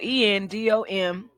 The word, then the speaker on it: endometriosis: So it's spelled ENDOMETRIOSIS. Okay, pronounced endometriosis.